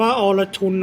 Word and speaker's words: Arjun: จาก อินเดีย นะ ครับ ครับ เอ่อ อ่าน ว่า อรชุน นะ ครับ อรชุน mk1 ความ เสีย หาย นี่